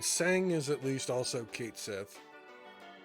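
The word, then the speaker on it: Cait Sith: And Sang is at least also Kate Sith. Or apparently that's pronounced Katshi.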